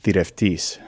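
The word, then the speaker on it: θηρευτής: Next is thireftis. This is an ancient Greek word pronounced as modern Greek, like most of the others we've seen.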